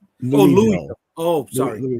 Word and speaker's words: Louisville: Louville is actually how it's pronounced. Louville.